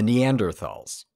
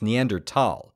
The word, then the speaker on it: Neanderthal: of auspicious huh now if you want to sound proper the correct pronunciation is neander tal but I think most